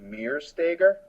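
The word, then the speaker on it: Meretseger: It looks like Meresteger. No. That's very German. It's spelled very German. It's Meresteger, and it's kind of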